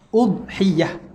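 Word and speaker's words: أضحية: Dan cara bacaan dia kata bi dhammil hamzati fil ashhar. Baca dengan dhammah hamzah. Udhiyah.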